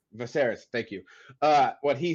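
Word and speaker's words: Viserys: V uh how do you say his name vaser thank you what he says and realize he's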